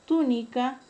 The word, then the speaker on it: túnica: El término túnica lleva la mayor fuerza de voz en la antepenúltima sílaba y es un término que es esdrújula, por lo tanto todas se deben de tildar.